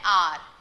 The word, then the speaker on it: hour: Yes, H is silent here, and so an R.